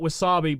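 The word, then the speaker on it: WASAPI: It's to tell you the spelling, and again, I just call it Wasabi, but it is spelt, hold on here, W-A-S-A-P-I.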